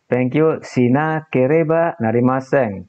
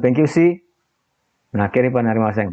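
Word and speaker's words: 勉強しなければなりません: Pengucapannya nanti si-nya digabung ya dengan ini imbuhannya. Bukan thank you si kereba narimaseng, bukan seperti itu. Tapi thank you berhenti jeda sina kereba narimaseng. Si-nya nanti digabung.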